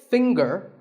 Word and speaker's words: finger: is silent now we say finger we say the G younger again with the G but singer no G and what would you